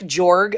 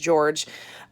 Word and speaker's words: Jorg: This tells a story of, it looks like Jorg, but I heard it's pronounced George.